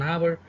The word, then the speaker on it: hour: See, H is silent, H is being not voiced here.